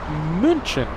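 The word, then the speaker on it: München: Captain Marcos, he's going to be flying uh flying the A380 to Munchin, as the locals say. Uh Munich, Munich, Germany.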